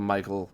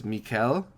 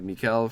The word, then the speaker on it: Michaël: I called him Michael in the interview because sometimes I'm just a stupid American as much as I wish I wasn't. So, sorry. I'm pretty sure it's Michaël.